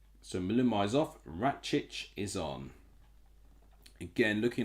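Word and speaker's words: Račić: be is uros rates ratc I think is how you say his name so malumi is off rattic is on again looking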